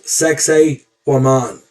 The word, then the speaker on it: Sacsayhuaman: Yeah, it sounds a lot like sexy woman, but it's pronounced Sacsayhuaman. Put the accent on that last A, woman.